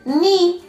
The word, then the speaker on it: knee: K N N, in this K is silent, N as in knee.